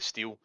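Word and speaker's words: stele: stylus oh it's steel it's s-t-e-l-e but they pronounce it steel so it steals um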